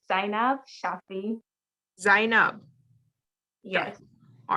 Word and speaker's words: Zaynab: your name correctly i've heard like three different pronunciations uh so it's sign up shopping sign up yes all right okay sign